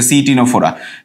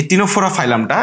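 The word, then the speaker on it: Ctenophora: আছে এবং হচ্ছে যে টিনোফোর ক্ষেত্রে এরকম হচ্ছে সিটিনোফোরা টিন ফোরা ঠিক আছে এরকম সি দিয়ে এখানে আসলে সাইলেন্ট সি এর মত ল্যাটিনে তোমার হচ্ছে যে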